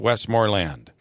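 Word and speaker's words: Westmoreland: and and and and you put the emphasis on on land westmor land yes I grew up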